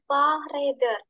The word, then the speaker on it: Fahrräder: Oke, jadi bacanya di Fahrräder. Räder. Di Fahrräder.